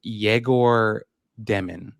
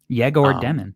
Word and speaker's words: Egor Demin: So he says it's pronounced Egor Demin. Egor Demin.